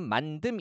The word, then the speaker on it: 만듦: 어떻게 적어야 되는 겁니까 발음은 만듦 이렇게 되지만 표기 형태는요 겹받침 리을 미음으로 적어줘야 되는 거죠 제가 예전에 살던